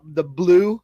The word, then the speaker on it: bleu: go to Red Robin, try the blue, and that's spelled BLEU, like blue cheese, the blue ribbon burger.